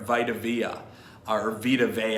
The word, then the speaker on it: Vita Vea: Shaq Barrett, Vita Vea, I should say, for a little soft pronunciation of a vowel there, for a big Samoan guy out of Hawaii, I think, who played at Washington.